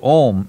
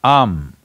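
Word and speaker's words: Aum: umarian there is also it is not to be said as om it is am it is just three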